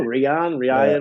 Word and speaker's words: Rian: You'd be like, bro, it's my name. I know. Rian. No, it's Ryan. No, Rian.